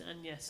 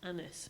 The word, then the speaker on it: Agnes: Well, I think then it was pronounced closer to the French, which is Agnes or Anis.